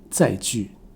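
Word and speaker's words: 載具: 说一下，正确的发音本来是载具，但是鸡飞城市，在台湾几乎所有人现在都读成第 3 声载具。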